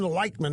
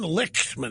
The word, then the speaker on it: Lichtman: He could have pronounced it Lightman. He chose to pronounce it Lichtman?